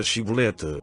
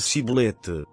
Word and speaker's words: Shibolete: Se dizia que não, então lhe pediam que dissesse a palavra Shibolete. Se, no entanto, dissesse Sibolete, porque não conseguia pronunciar corretamente a palavra, eles o prendiam e o matavam na passagem do Jordão.